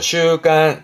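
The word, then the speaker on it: 習慣: 발음은 그렇죠. 슈간, 슈간.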